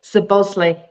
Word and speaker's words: Szoboszlai: Szoboszlai.